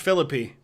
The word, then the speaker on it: Philippi: battle of the Civil War and it is pronounced Philippi okay we'll ever tour Asia um I wouldn't